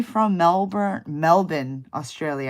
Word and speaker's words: Melbourne: D D from melbour Melbourne Australia I know that you're supposed to pronounce at melbour I only know that